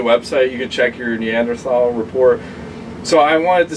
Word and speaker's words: Neanderthal: He just posted his Neanderthal. He did. And I like to pronounce it with a T. And I hate how he pronounces it because he always goes Neanderthal.